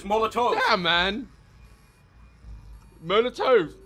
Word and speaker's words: Molotov: We've been saying it wrong this whole damn time. The canonical pronunciation is Molotov.